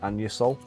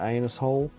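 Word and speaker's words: Anusol: the UK it's called it's called anol It's spelled a A N U S O L. It's an unfortunate name really. And uh he kept calling it anus hole.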